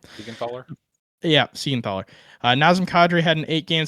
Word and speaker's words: Siegenthaler: I think it's how you pronounce his last name. Siegenthaler? Yeah, Siegenthaler.